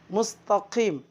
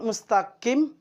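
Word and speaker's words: المستقيم: dalam penyebutan huruf qaf huruf qaf keluar dari pangkal lidah menyentuh langit-langit bagian Hai mustaqim bukan mustaqim kalau mustaqim jalan yang lurus kalau mistaking jalan kepiting batu Perhatikan cara baca yang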